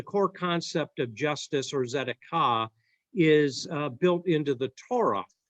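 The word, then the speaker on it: tzedakah: And you'll see on your notes there, that's a Hebrew word that is called zedekah. The T is silent.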